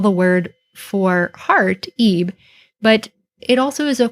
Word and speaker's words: ib: So this hieroglyph has the sounds of yod and b. We pronounce this ib in modern times, and this spells the word for heart.